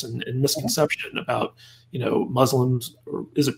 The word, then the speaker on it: Muslim: it pronounced Muslims or Muslims? Well, I mean, in America, we generally say Muslims. The actual way we Muslims say is Muslim, so, but it's never said that way in America, so I'll go with either.